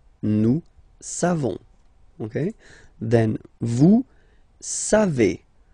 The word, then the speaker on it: savez: Then vous savez. Classic ending for vous, E-Z, but then phonetically it's E. Vous savez.